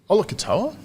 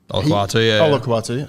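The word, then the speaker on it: Olakau'atu: Like, Olakatoa. Olakawatu, sorry.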